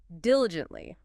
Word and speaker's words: diligently: Okay, next is diligently. Diligently. Diligently. 4 syllables, stress on the first.